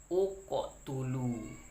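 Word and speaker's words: اقتلوا: Bila huruf ketiganya itu barisnya dhammah, maka berilah alif ini dhammah. Maka cara bacanya adalah uqotulu.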